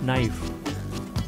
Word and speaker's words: knife: When K is with N in the beginning, it is silent.